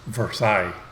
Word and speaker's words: Versailles: the name but somebody told me that it's pronounced versailles so that's the way i'm going to pronounce